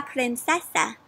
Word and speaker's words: princesa: El guisante and la princesa. Sort of sounds like the word princess, right? And it does because that's what it means. That's how you say princess in Spanish.